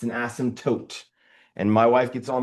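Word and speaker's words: asymptote: Uh the P is silent like in pterodactyl, right?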